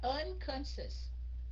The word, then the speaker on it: unconscious: biết trời đất unconscious C nói là unconscious t nhấn hai stress hai cái âm đầu muốn